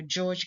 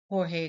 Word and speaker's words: Jorge: Now, in my previous video, I said Sergeant Major George Garcia. Now, this should be corrected because the correct pronunciation, it should be Sergeant Major Jorge Garcia.